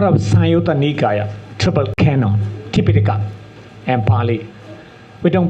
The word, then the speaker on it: Tipitaka: That's a part of Sanyutta Nikaya, triple canon, Tipitaka and Pali. We don't pronounce Tripitaka. If you pronounce Tripitaka, it is like Sanskrit.